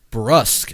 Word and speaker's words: brusque: Collins repeatedly calls him brusk. Is that it? Brutesque. A brutisque. R U S Q U E brusk. Brusk is how you say that word.